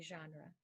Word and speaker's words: genre: likes the horror movie genre John raw likes the horror movie genre this one is itinerary